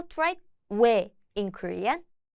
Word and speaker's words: 왜: Pronounce O and 에 quickly together. As in 왜, 왜.